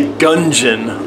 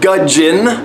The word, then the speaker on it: gudgeon: Usually I say gungeon, like a gun with a glass of gin. Gungeon. But gudgeon, only one N.